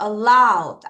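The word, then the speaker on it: aloud: allowed, 앞에다 강세. allowed, 여기서 강세다. 다시 뭐라고요? allowed. 강세를 모음해 줄게요. 여기서 강세예요. 다시 뭐라고요?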